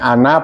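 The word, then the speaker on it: أنا: Jadi bacanya ana pendek ya. Wa ana abduka bukan ana bukan ya. Jadi wa ana abduka walaupun ada alifnya.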